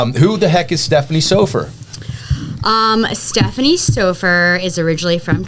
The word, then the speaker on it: Soffer: Oh, you said it wrong. Damn it! It's Stephanie Soffer.